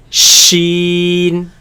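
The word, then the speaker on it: ش: Sheen. Sheen, Sheen. Sheen, Sheen. Sheen. Now this comes from the middle of the tongue, against the middle of the upper palate.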